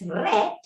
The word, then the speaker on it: read: pass and red present how to pronounce it so read present okay so when you want to say you read a book I I wrecked a book I read a book she reads a book now unfortunately unfortunately okay that's the rule we know of I read a book the moment I pronounce it as red yellow past tense Papi this one I